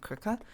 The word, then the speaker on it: Krka: one is definitely um crooker um again don't know how to pronounce it but it's pronounced like it's spelled krka which I think I've